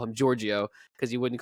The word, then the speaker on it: Giorgio: So all right, we'll just call him Giorgio.